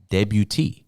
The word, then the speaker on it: debut: for a Seattle Kraken debut I think I said that right yeah little French accent on the end debut T is the most